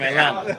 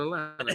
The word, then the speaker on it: Atlanta: A brief history lesson on Atlanta. Man. if you ever come to Atlanta, don't say Atlanta like me. Just say Atlanta. It's spelled Lanta.